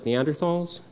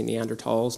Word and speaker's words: Neanderthals: we would share common ancestors with species like neanderthals or I should say neanderthals now that's the proper way to pronounce it now and then species like the